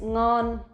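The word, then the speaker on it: nón: the next one is non non non non you will see if you notice we will not pronounce like the ending sound like in in English for example in English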